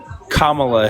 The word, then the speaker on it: Kamala: voted for Kamala Harris Kamala it's not difficult to say your name you just you're making yourself look like question well if you say it correctly when's the last time that you voted for kamla Harris there you go you can do it it's not that hard